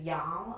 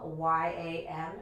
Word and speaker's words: yam: We will be incorporating a Sanskrit syllable that tunes the heart, which is yam, Y-A-M, yam.